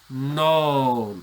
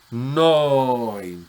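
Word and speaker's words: νῷν: Non, o quienes pronuncian la iota suscrita, noin.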